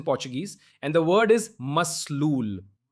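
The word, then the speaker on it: מסלול: And the word is maslul. Mazlul. Mazlul. That's exactly how you pronounce it, guys.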